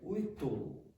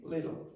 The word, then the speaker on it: little: If you listen to a native French speaker, words like this, which might have a dark, they'll say witu, when it should be little or little.